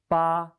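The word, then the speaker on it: 八: a new chinese character it means eight the pronunciation is ba please write it with me another basic writing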